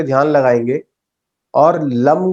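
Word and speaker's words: लं: तो मूलाधार चक्र पे ध्यान लगाएंगे और लम का उच्चारण करेंगे। ल ऊपर बिंदु लम।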